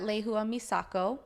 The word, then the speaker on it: Lehua Misako: So Instagram, it's at Lehua Misako. I'll spell it out for you.